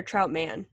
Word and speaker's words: Troutman: or not do you go by is it pronounced Troutman or trout man Troutman Troutman okay I think it's Jeremy you